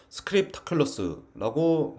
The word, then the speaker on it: script.aculo.us: 그게 바로 스크립트 킬러스입니다 발음이 어려워요 스크립트 점 아킬로 aculo.us 도메인은 US 도메인이죠 스크립 타클로스라고 보통 있죠이 스크립트 탑클래스는 앞에서 설명한